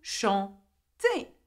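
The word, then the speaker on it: chantent: Now, though there is E-N-T, you do not pronounce the N and the T. You pronounce it as E, just like je, tu, il, elle, okay?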